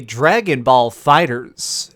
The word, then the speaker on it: Dragon Ball FighterZ: what's up gamers streamcast guy here reviewing today Dragonball Fighters and yes that is how it's pronounced I looked it up have you ever